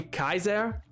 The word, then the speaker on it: Caesar: Because it's also Caesar also shouldn't be pronounced as a s noise. It should be Kaiser. But like no one's ever gonna change that. Like it's too ingrained in culture that it's Julius Caesar.